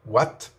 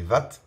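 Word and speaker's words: Watt: and cultural de gorge on fait bien la différence parfois entre wagons et wat et on ça viendrait à l'idée de personne de prononcer vat notamment pour l'unité de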